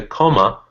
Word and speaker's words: comma: So the deal is that it's not actually pronounced comma. It's Ah, pronounced comma. comma, comma. It's unstressed and it becomes this.